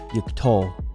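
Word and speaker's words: יִקְטֹל: Now we want the accent to be on the final syllable, so it should be yiktol.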